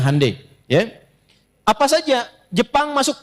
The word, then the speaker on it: Hyundai: Ya Hyundai saya tahu bahasanya dibacanya Hyundai.